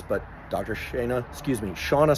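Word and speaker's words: Shanna: Dr sha excuse me Shauna Swan it's the correct pronunciation of her name assures me you want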